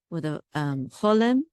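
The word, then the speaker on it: חוֹלֵם: The accent is on lem, and here the accent is on o.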